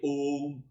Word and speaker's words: Om: You say Om. Om has 3 syllables. O-U-Ma.